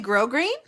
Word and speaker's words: grosgrain: word it is that you don't pronounce the s that's really grosgrain i'm glad i didn't